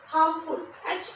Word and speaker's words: harm: आर यहाँ silent है बेटा, ध्यान रखना ये जो आर है यहाँ पर ये साइलेंट है, जब आप प्रनाउंस करते हैं वर्ड को तो वहां पे आर नहीं बोला जाता, जैसे कि KNIFE, नाइफ,